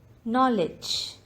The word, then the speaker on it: knowledge: word is n him knowledge the letter silent in this word is k knowledge castle t is